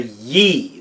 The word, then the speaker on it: Yi: So we're going to look at this time around the aspect of you called the Yi. That is spelled Y-I in pinyin, or that's that weird